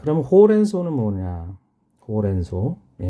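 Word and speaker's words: ほうれん草: 그래서 시라스 호렌소. 이건 한자로 써 있죠. 풀초. 풀이라는 뜻인데. 자, 요거 읽을 때는 소라고 읽어요. 소. 길게 소.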